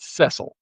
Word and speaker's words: Cecil: So it's he goes it spells Cecil and he's pronounces it Cecile.